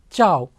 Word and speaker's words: ciao: ciao c i a c i a is pronounced as cha like if you know telugu it is cha if it is hindi it is cha okay chao so all together this